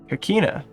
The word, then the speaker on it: Coquina: Coina. Ah, close enough. I probably should have expected it wasn't a real QU.